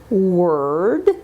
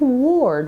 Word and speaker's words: word: Her, first, journal, energy, burn, word. Now notice this isn't ward with an O.